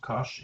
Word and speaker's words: cosh: the hyperbolic trigonometric functions hyperbolic cosine hyperbolic sine pronounced cosh and sinh CH now then if we want